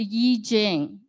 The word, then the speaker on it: I Ching: sent us a gift and it's called the Yi Jing some of you may be familiar with I Ching so it's spelled I and Ching c h i n